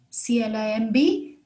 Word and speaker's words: climb: another word is climb c-l-i-m-b pronounced as climb because b is silent climb which means go